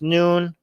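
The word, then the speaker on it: Nun: so many member comments oh it's pronounced noon it's his reference to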